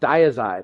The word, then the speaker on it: Dyazide: We're going to talk today about Diazide, also known as Thiazide. This is what can confuse people because you'll hear people pronounce it different. You know, di versus thigh sounds similar, but there's different brand names, and there's also hydrothiazide.